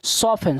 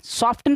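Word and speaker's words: soften: T silent है तो बचेगा एस ओ एफ ई एन। क्या पढ़ेंगे इसको, सॉफन। सॉफन मीन्स क्या होता है, मुलायम। सॉफ्टन पढ़ते हैं, कुछ लोग इसको सॉफ्टन, सॉफ्ट सॉफ्ट कहते हैं, नहीं बच्चा, सॉफ्टन नहीं होता, सॉफन होता है। यहाँ पे टी होता है साइलेंट।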